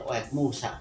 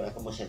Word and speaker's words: Oekmusa: Nah, mungkin airnya dulu kecil, jadi dia muncul kecil, jadi Oekmusa. Betul. Nah, air baru yang baru kecil, makanya itu debitnya masih kecil, barangkali seperti itu. Tapi salah pengucapan. Salah. Jadi Oekamusa itu salah.